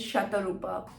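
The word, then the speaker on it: Satarupa: in any way um I pronounce my name is shatarupa but I spell it as s-a-t-a-r-u-p-a so since it's a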